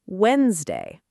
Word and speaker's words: Wednesday: d a y, but native speakers say it as Wednesday. That middle d basically disappears. And a lot of learners, understandably, try to pronounce every single letter, so it comes out as Wednes day, which sounds a bit textbook-ish. The fix is simple. Say it in two beats, Weds and day. Wednesday.